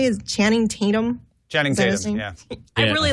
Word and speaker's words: Channing Tatum: Channing Tatum, yeah.